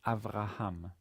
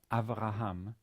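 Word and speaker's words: אברהם: here it's you know it's not pronounced it simply indicates that bet does not have a vowel and hence clashes with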